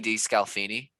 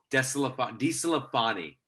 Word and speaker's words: DeSclafani: Anthony DeScalfini. No, DeSclafani.